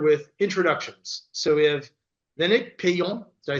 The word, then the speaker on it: Lénaïc Peillon: So we have Lénaïc Peillon.